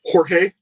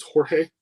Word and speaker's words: Jorge: the Halo handgun design George not is it was it horge not George is that am I am I not saying it right it's Jorge it's Jorge not George he just being difficult or is it the same or is it a soft J cut cut throats like